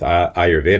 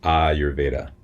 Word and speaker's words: Ayurveda: But with Ayurveda, it's a long A, and then a short A. Ayurveda.